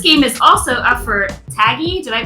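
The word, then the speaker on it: TAGIE: So this game is also up for Taggy. Did I pronounce that right?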